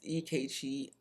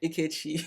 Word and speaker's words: Ikechi: It's Ikechi, sorry, Ikechi and MM. It's how they pronounce it.